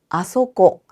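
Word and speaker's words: あそこ: 이곳은요고 그곳 거기는 소고 소고 저기 저곳은 아소고 이때 중요한 점이 아코가 아니라 아소코예요. 고소고 내려오니깐 아코라고 생각하시는데 아코라는 표현은 없습니다. 아고라고 합니다. 그럼 어디라고 할 때는요?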